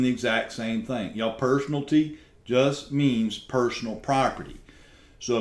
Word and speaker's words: personalty: you that's misspelled y'all that is not personality y'all the term is personalty it's not personality it's personalty and it is spelled correctly now um y'all I'm